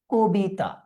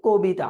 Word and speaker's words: কবিতা: তাহলে ক, এটার সাথে একটা অধ্বনি আছে, পরবর্তীতে আমরা রস্বই দেখতে পাচ্ছি, উচ্চারণটা কি হয়ে যাবে? কবিতা। উচ্চারণটা হয়ে যাচ্ছে কবিতা। আশা করি তোমরা বুঝতে পারছো